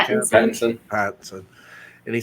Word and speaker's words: Pattinson: Pattinson.